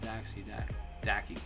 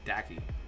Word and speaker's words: Dacky: No, not Daxi, Dacky.